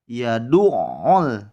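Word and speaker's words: يَدُعُّ: Contoh lainnya adalah kalimat yadu'ul. Yadu'ul yatim. Yadu'ul. Sehingga dimasukkan untuk huruf-huruf yang memiliki tasydid.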